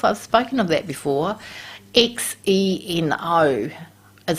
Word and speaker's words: xeno: spoken of that before x e n o is how it's spelt but we call it xeno like z-e-e-no so xenoestrogens they mimic